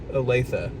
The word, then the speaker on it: Olathe: It's a city that is hard to pronounce the name, and I can't. Yes, Olathe. Olathe.